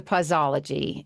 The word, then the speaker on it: Pauseology: Well, before we get into pausology, and I don't know why I have a hard time with saying that, does anybody else pausy pausy?